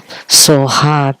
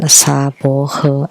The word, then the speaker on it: Soha: In Taiwan, Soha became Saboho. I've talked about this. So when Taiwanese chant, they would chant Saboho. Actually, it's Soha.